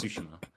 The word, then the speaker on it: Tsushima: island is Tsushima. It's pronounced Tsushima.